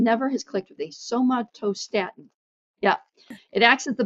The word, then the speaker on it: somatostatin: How do you pronounce that? Peggy, you there? It's a somatostatin, yes.